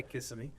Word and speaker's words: Kissimmee: Sanford, Winter Park, Kissimmee. Is that how you say it? I would say it like Yeah, that. kissing me. Say Kissimmee.